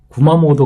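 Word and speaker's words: 熊本: 그 모도라고 이제 사람 이름에도 좀 많이 들어가는데, 우리가 이제 제일 잘 아는 구마모도 같은 경우에는 앞에 니혼을 혼이라고 읽었으니까 웅혼 뭐 이런 식으로 읽어야 될 것 같은데, 그렇지 않고 이건 뜻은 이제 모도라고 뜻을 가지고 읽게 되는 거죠.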